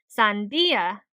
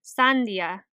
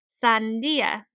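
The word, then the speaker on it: sandía: stressed and emphasized so if we were to put emphasis on the syllable where the accent mark is in the word for watermelon we would say Sandia instead of Sandia make sense the difference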